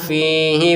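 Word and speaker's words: فيه: Fa'anfukhu fihi fayakunu tayran biiznillah.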